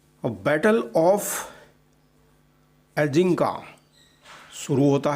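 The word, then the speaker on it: Agincourt: अब battle of एजिंका शुरू होता है। ये एक फ्रेंच वर्ड है और इसका जो सही प्रोनाउंसिएशन है वो है एजिंका, जिसमें हर 5 फ्रेंच सैनिकों पर एक अंग्रेज सैनिक होता है।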